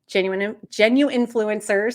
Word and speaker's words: genuinfluencers: So genuine influencers, it's always hard to drop that middle syllable, genuine influencers.